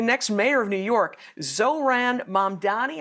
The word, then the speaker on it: Mamdani: We've got a guy who's likely to be the next mayor of New York, Zohran Mamdani, I think is how you say it.